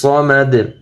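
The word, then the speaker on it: الصمد: শেষে দুই পেশ আছে, দুই পেশের উচ্চারণ হবে না, আহাদ। আল্লাহুস সামাদ।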